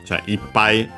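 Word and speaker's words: いっぱい: As a numeral plus counter combination, the accent is before high, pi, in this case actually pi is the original pronunciation, before the changes. So ippai, but yeah, here as the extended meaning, which is full, becomes an accent.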